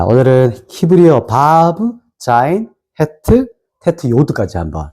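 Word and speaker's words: ו: 바브예요. 이렇게 쓰는 거 보여 줄게요. 자, 보세요. 자, 요렇게 좀 왔다가 쭉 내려와요. 맞나요? 이게 뭐라고요? 바브. 그래서 바프라고도 하기 하는데 보통 발음은 바브라고 하고 숫자값은 몇일까요?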